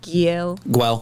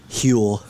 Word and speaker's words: Guel: And Bradley plays, I always mispronounce his name, Giel. Guel. Well, Guel. yeah. I really want to go like hard and be like Huel. Huel. Yeah. Or just roll it.